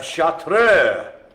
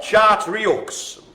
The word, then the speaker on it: Chartreux: So the next one, it's a dark little fella, and it's called the Chartreux, or Chartreux, if you're gonna just sort of read it the way it's spelt. Chartreux.